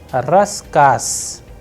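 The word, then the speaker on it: рассказ: Likewise, the sound of z is changing into s. How? Let us see. Raskas, raskas. So, these are the very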